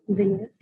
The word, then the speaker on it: vignette: how it was personalized how do you say vignette vignett yeah vignette yeah that Um